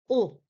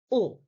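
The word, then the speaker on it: ㅗ: Uh, when pronouncing this basic vowel, students often pronounce it as a diphthong like O-U. That is a wrong sound. This too must be pronounced as a single sound. Let's take a listen. O. O. As a single sound, you must keep the same mouth shape from beginning to end.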